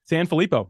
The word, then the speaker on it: Sanfilippo: Ladies and gentlemen, this has been Sanfilippo. How do you say your last name? I forgot to ask. Sanfilippo. You pretty much have it.